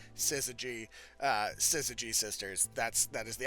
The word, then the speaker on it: Syzygy: ladies are pronounced the Sysygy Sisters. So Syzygy, kind of like scissors, kind of like a G, Syzygy, Syzygy Sisters.